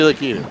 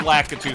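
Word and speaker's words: Lakitu: Lacatu.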